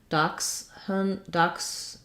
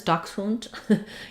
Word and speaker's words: dachshund: We can say dachshund with just n. Dachshund, in German it's dachshund. In American English, dachshund. We don't really use a vowel there, or dachshund.